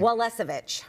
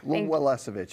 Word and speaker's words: Welisevich: Welisevich. Welisevich.